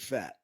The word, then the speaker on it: Pfaadt: that's you don't have a name like that and not pronounce it fat that's a fat name